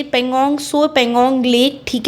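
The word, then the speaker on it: Tso: पगोंग सोपे। ये T silent रहता है इसमें।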